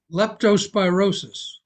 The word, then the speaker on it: leptospirosis: of the indigenous folks died how do you pronounce it leptospirosis thank you leptospirosis I just knew my tongue wasn't going to